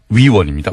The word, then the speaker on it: 위원: 발음을 정확하게 해주십시오. 의원이 아니고요. 위원입니다. 위원.